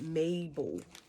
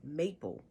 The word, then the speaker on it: Mabel: I was able to get Mabel. I thought her name was Maple, but it is Mabel.